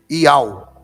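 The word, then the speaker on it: Yahweh: a gente não sabe iu esse iu eu acho muito feio parece meu iau é a pronúncia que é mais aproximada aí do do nome de Deus segundo o pessoal aí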